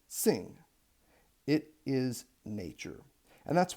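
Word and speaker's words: xing: it's about transcription naturally this is not pronounced Zing it is pronounced sing it is nature and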